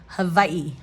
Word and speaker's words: Hawaii: hard hardware store Hawaii the locals in Hawaii actually pronounce the W as a v in the middle of a word and in Hawaii they actually call it Havi Havi but in English